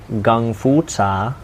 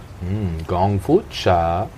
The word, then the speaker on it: gongfu cha: kung fu tea mm-hmm proper pronunciation gongfu cha gongfu cha gun for you Lanza